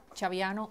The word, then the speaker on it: Chaviano: escribe d de Diana a i n a acento en la i chaviano c h a b de Víctor y anno